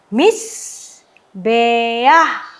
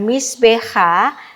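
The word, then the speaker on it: מִזְבֵּחַ: Kenapa saya tidak membacanya dengan misbe ah? Anda harus ingat pelajaran kita sebelumnya bahwa ada patah genufa pada aksara-aksara Ibrani tertentu, ya. Misalnya kalau patah ini, ya, dibubuhkan pada aksara het atau he misalnya, nah, maka ini membacanya bukan misbe ah, tetapi misbe ah. Ya, di sini adalah patah genufa, ya, pelajaran kita yang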